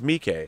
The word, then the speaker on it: Miike: Just okay, it's Miike.